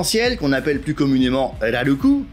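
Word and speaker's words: ラルク: à l'arc en ciel qu'on appelle plus communément elle a le cou prononciation japonaise de l'arc est un goût mais au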